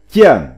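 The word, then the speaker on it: 餞: Phiên âm tiếng Trung đọc là triển. Âm nôm đọc là tiễn.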